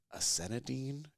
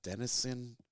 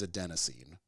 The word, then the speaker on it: adenosine: a scientist, but I believe the word is acenidine. It's an adenosine. See, I'm gonna mispronounce it, and I've had too much whiskey, but it's like I think the word is adenosine, and it's like a chemical in your brain.